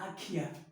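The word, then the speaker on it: IKEA: आइकिया नहीं होता, आखिया, आखिया, आखिया, आखिया।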